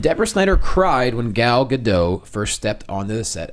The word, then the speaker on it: Gadot: me, I'm pretty sure it's Gadot now. Okay, I can keep going back. I was saying Gadot for a while. Yeah, it's Gadot. Look, it's Gadot. You now. know, when I see escargot, I pronounce it escargot usually. So. But that's French, and she's from Well, Israel. good. So if I you know, pronounce it but I don't know escargot, then anything. you can say Gadot. Then I'll say Gal Gadot.